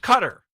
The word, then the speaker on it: Qatar: Cutter. No, it's is the anglicized pronunciation that most news organizations say.